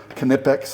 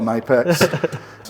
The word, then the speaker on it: Knipex: of the Knex are knipex I can I have a hard time seeing I know it's the proper way to say it but I still call it naex oh Aviation so back